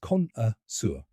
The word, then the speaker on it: connoisseur: The pronunciation is Connoisseur. Let's break it down step by step. First, con, like contest. Then, just a light, quick sound. And finally, sur, rhyming with fur or sir.